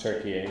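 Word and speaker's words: Türkiye: It's now pronounced Turkey, so we might okay.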